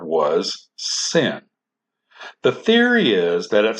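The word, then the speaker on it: שׂין: If the dot is on the left, then it is pronounced s and is then called a sin.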